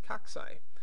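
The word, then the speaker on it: cocci: bacteria cell the picture on the left is pronounced coxy coxy is the plural version of many spherical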